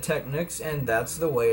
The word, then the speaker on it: Technics: technics technics thing where it's supposed to be pronounced techniques like that's their goal not their goal but their idea the brand's idea that it was supposed to be pronounced techniques but again I pronounced technics I've always said technics and that's the way